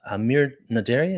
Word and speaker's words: Amir Naderi: Amir Naderi. Is that how you pronounce that?